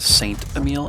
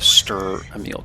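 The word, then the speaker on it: Strv Emil: to go after the Stir Emil. By the way, a lot of people think this is the Saint Emil. It's actually the Stir Emil, guys.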